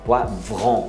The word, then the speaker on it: poivron: A gente fala é vron. Né? Vré. Vron. Então é poivron. É aquele R de garganta mesmo. Como se fosse dois R's aí.